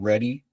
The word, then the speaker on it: R3DI: Today, I'm presenting our commercial solution called Ready Resilient Realtime Disaster Interface, which is pronounced ready and spelled R3DI.